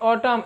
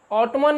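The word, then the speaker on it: autumn: Next ऑटम, AUTOMN, ऑटम, ऑटम means पतझड़। देखिए यहाँ पर एन का उच्चारण जो है वह साइलेंट होता है, इसको हम लोग ऑटमन नहीं बल्कि ऑटम पढ़ते हैं।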